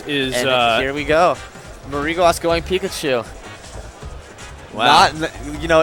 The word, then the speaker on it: Mariguas: Okay, so we might have been saying Mariguas' name wrong.